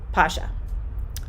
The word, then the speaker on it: Pasha: So their names are actually pronounced in Russian Ruslan, and Pasha.